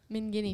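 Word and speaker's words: Minghine: still like finally you know why we pronounce it that way min guinea because it's because that and it's because that's how they pronounced it oh no reason good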